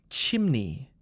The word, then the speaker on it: chimney: saying this word because it has two syllables and the two syllables join strangely so the first syllable is Chim Chim Chim and the second part of the word the second syllable is n KN KN so together it's chimney chimney chimney can you say it